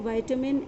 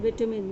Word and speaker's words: vitamin: Children, I already told you, don't get confused in the pronunciation of vitamin and vitamin. They both are correct. One is British accent and one is American accent.